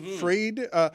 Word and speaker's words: Fried: And Fried, that's how you pronounce it, right, Greg? Fried.